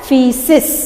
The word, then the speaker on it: feces: undigested food and make solid waste called feces, pronounced as feces.